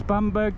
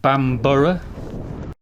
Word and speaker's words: Bamburgh: And in the distance is Bamberg Castle. Apparently supposed to pronounce it Bambbor.